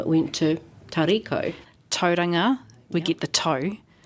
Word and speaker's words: Tauriko: Tau, ri, ko. We change the C to a K. And then we get that lovely Māori pronunciation, which is just beautiful.